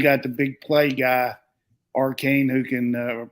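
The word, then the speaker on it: Achane: And then you got the big play guy, Arcane, who can pronounce that for me, Brent. How you pronounce it? A-Chain.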